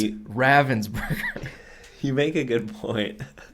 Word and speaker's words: Ravensburger: we should um PS in Germany we say Ravensburger because that's how the town is pronounced in which the company is based you know of course